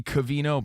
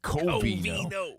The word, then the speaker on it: Covino: I say cavino, but my dad would say coino just so you don't misspell it.